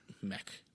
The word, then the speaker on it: Meek: Meek is how the Germans would say it, too. Like a sound rather than E.